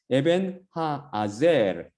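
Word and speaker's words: אבן העזר: 에벤 하아젤. 그 히브리어로 그대로 발음하면 그걸 에벤에셀이라고 우리 지금 영어 성경도 그렇고 한글 성경도 그렇고 심지어 70인역 셉트아진타에서도 이렇게 번역했더라고요.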